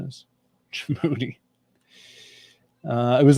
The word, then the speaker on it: Djibouti: Oh, that's what their pronunciation is. Djibouti.